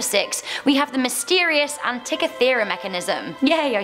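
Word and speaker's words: Antikythera: coming into number six we have the mysterious Antica theorem mechanism yay I said it right this ancient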